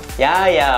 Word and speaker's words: jaja: 아 부스걸 로 정했습니다 이 스펠링을 보면 자자 푸스 걸로 보이는 이렇게 잦은 아니고 야 합니다 다같이 야이 아야 보스